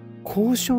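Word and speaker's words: 工廠: 工場何ですか交渉交渉って読むんだへえうんあこれ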